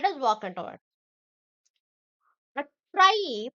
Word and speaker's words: trie: A try pronounced as try and followed e or